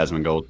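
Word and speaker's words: Asmongold: um our boy not our boy the boy asman gold hopefully i'm pronouncing that correctly yeah asthma gold okay perfect he live stream runescape we did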